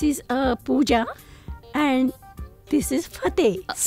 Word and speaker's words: Fateh: It is Fateh. Fas.. It is spelled as F-A-T-E-H.